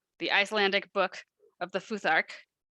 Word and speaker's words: futhark: icelandic book of the futhark i think that's how that's pronounced because the p is a th the p looking symbol